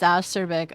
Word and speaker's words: acerbic: Is it acerbic or is it... Oh, it's acerbic.